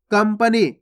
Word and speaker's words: कंपनी: कंपनी। देखो कंपनी में आधा माँ का उच्चारण हो रहा है, इस प्रकार